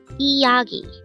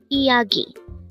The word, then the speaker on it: 이야기: 이야기. 이야기. This pronounces a three-syllable word. The first syllable is I, second syllable is ya, and third syllable is gi.